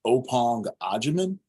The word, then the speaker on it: Opong Ajaman: The pronunciation of my name is Opong Ajaman.